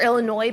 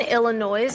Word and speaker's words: Illinois: know how to pronounce Illinois which does have an s on the end but I think we learned in was it fifth grade that the S is silent so look at that